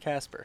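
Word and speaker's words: Kacper: it K it's k a c p r pronounced Casper Caper C cper but not the case for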